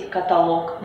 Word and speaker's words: каталог: дово Как вы заметили ударение в русском языке разноместное оно может падать как на первый слог например средства Может на второй например звонит Может на третий каталог может падать на четвёртый асимметрия и так далее это